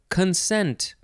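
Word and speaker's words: concent: Next is consent. C-O-N-C-E-N-T. And I am pretty sure we will be seeing another word that is pronounced the same way, but with an S in the middle.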